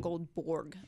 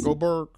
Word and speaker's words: Goldberg: It's not Goldborg. Goldberg? Yes. Goldberg. Whoopi. Whoopi won too. You easily could have just She was said the other Whoopi. one, Whoopi. We know Goldberg.